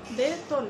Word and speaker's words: বেতন: যেমন বেতন, যেমন আমি বলছি বেতন, এই যে শুরুতে কিন্তু একার রয়েছে বেতন, এই যে মাঝখানে ত অ রয়েছে, তাহলে সেই তটি কিন্তু এই যে একারের প্রভাবে ও এর মতো হয়ে যাবে বেতন, বেতন না বেতন এভাবে হবে।